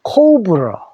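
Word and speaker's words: cobra: 코브라인데 영어로는 코브러.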